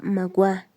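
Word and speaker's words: Maguá: alguno el un reino se llamaba magua la última sílaba aguda que quiere decir el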